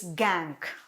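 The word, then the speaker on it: gangue: important third term is gank spelling g-a-n-g-u-e gangu but we pronounce it as gang what is gang the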